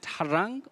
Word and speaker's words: harangue: you say her then you have the primary stress as you pronounce the second syllable you say rang harang